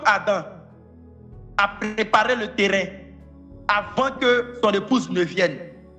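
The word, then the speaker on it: Havah: On a été Ava. Ça s'écrit H-A-V-A-H.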